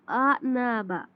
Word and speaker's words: أعنابا: हमजा, हमजा की तरह इसको प्रोनाउंस नहीं करना। आ, आ नहीं पढ़ना इसको। आ नाबा, आ नाबा सॉफ्टली पढ़ना है।